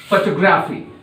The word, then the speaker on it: photography: See that the stress on TO. There must have some stress on this. Okay? Photo. Photo. Like in Hindi you are speaking photo. That is photo. Photography.